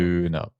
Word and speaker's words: Döner: You're saying it the German way. Döner.